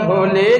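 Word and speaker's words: ح: নিচে এক নুক্তা হলে কি নিচে এক নুক্তা হলে জিম ও যে জিমে নুক্তা হয় হয় কয়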